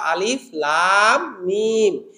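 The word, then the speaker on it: الم: আলিফ লাম এবং মিম এটাকে আমরা আলাম বলবো না আলিম বলব না ওটাকে বলব আলিফ লাম মিম এই যে আলাদা আলাদা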